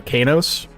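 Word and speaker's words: Qeynos: Like going from Riverdale, Riverale to Kanos. I think that's how you pronounce that. Kanos or Kuno. I'm pretty sure that's K. Like a hard hard Q.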